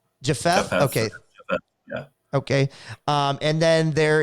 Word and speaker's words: Japheth: And I'm not even sure how to pronounce the other name. So Japuth, maybe? Japheth. Okay. Japheth.